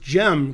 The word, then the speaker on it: Cem: It says Sem Kaan Gokerkan, although I think the Sem is pronounced Gem because it's Turkish. And I know a Turkish grandmaster whose name has a C in it, but it's pronounced as a J.